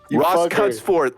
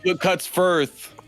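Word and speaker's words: Cutsforth: here good night zach you said my last name wrong cuts forth cuts forth not but cuts firth i said cuts fourth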